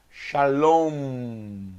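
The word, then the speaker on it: שלום: som de m que é em hebraico com a boca fechada como a palavra shalom boca fechada com uma palavra sangue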